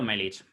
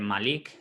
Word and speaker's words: Melich: Yo suelo pronunciarlo Melich, Vale. así como llano. Melich. Pero hay gente que dice Malik, hay gente que dice Ajá. Melik, Melich, Meliche.